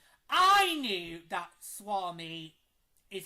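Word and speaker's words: Suomi: year's four nations because right I knew that Swami is how you say Finland in Finnish.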